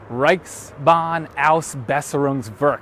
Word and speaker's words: Reichsbahnausbesserungswerk: It's an abbreviation for Reichsbahnausbesserungswerk. That's actually one 7-syllable German word.